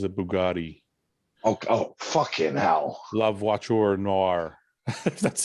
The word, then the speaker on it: La Voiture Noire: La Voiture Noire. That's how you pronounce it.